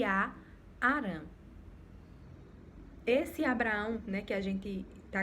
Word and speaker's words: Abraão: sobre isso, só que o nome dele antes era Abrão, se pronunciava Abrão e depois Deus ele altera para Abraão, certo?